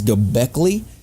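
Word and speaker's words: Göbekli: right so uh go gockley which I say wrong all the time I'm going to just mispronounce it all night on purpose because it's easier I'm say GOI but it's gockley a k e k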